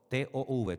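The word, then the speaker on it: טוב: T o V.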